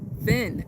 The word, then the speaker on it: Fin: Finn. F-I-N. Rhymes with sin.